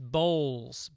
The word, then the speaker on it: Bowles: Also, my name is pronounced Bowles, B-O-W-L-S, Bowles.